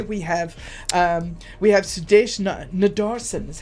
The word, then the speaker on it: Sudesh Nadarsen: Well, talking about road trips, today we have um we have Sudesh Nadarsen is how you pronounce it.